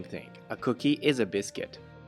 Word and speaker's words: biscuit: A cookie is a biscuit. How do you pronounce this word? In American English, it's biscuit. In French, it's biscuit. And finally, in Japanese, it's bischetto.